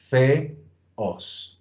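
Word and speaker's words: θεός: Bien, entonces aquí tenemos, como justamente dice Barreneche, un hiato. Entonces por eso separamos en dos sílabas. No es un monosílabo. En español es monosílabo, pero en cambio en griego no lo es. Theos.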